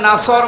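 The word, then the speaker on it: نصر: এখানে সোয়াদ আছে, নাসর মানে সাহায্য, আর নুন সিন র নাসর মানে ঈগল পাখি। আপনি যদি মুখটা গোল করে শুদ্ধ করে উচ্চারণ না করেন অর্থ আকাশ পাতাল পাল্টিয়ে যাবে।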